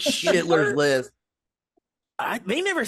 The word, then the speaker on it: Schindler's: It's called Sha Kindler. Is that how you say it? It's Schindler's List.